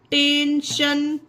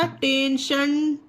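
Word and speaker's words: tension: टेंशन, TION आया, टेंशन, TION का उच्चारण क्या बना फ्रेंड? शा बना, शलजम वाला शा, ना कि सपेरे वाला सा।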